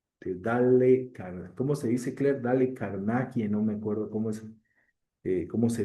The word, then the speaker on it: Dale Carnegie: Dale Carnegie, sí.